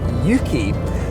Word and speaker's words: Yuki: so I've decided to call him Yuki one because it rhymes with Suzuki too because I like